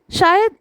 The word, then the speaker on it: Scheu: संदेश पहुँचाते हैं कि मेरा नाम को नहीं श्यू बोलते हैं।